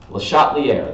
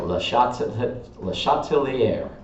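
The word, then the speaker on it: Le Chatelier: LeChatelier, that's how you say it, LeChatelier.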